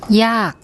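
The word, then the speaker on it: ยาก: Okay, this has an unreleased K sound at the end. ย า ก ย า ก ย า ก The next one is the Thai word for lots or many.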